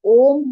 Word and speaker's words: ओम: इसका जो बीज मंत्र होता है वो ओम होता है। अ ओ म ओम इज़ रॉन्ग प्रोनाउंसिएशन। ओ म इज़ द करेक्ट प्रोनाउंसिएशन।